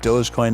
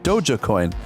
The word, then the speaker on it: Dogecoin: dogecoin i have heard some people pronounce it uh dog-e-coin where they they pronounce the the g and the e a bit differently but uh yeah we